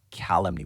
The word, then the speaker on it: calumny: Calumny. But what does it mean? This is a false statement to damage someone's reputation. We pronounce it calumny. It's a noun with stress on the first part.